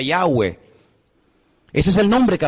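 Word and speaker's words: Yahweh: y he Bad he verdad ese nombre se pronuncia yahwe Ese es el nombre que aparece en el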